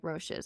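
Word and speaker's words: Roshe: FootJoys are 10 times more comfy than my Roches are.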